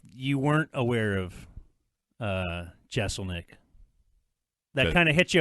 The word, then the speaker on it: Jeselnik: yeah I'll hang on all right it's Anthony Jeselnik it's jeff you say it like that yeah